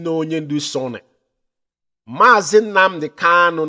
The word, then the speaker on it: Kanu: Mazi Nnamdi Kanu, not Kalu. Mazi Nnamdi Kanu, not Kalu. Our leader's name is not Kalu, it's Kamanu Ozuzu.